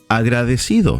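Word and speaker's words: agradecido: yo estoy i am agra decido thankful five syllables cinco silabas if you're a female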